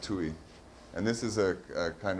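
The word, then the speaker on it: Tuy: It's definitely H, and his last name looks like Thai or something, but it's pronounced Tui.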